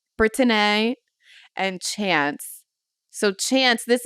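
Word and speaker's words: Britteny: y so britan Jesus that's how I would pronounce it brittin and chance so chance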